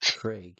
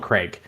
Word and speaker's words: Craig: Throughout like my time in the U.S., like I'd always say Craig, and all of my all my American friends were confused as terms of why I pronounce it like that. Like who the fuck says Craig? Americans. It's not an E, it's an AI.